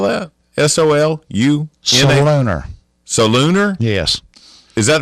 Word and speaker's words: Solunar: what app do you use to get your Soliner tables and stuff like that? Which app are you pulling? What kind of tables? Soliner. Soliner tables. Do you know how to spell that? SOLUNR. Solunar.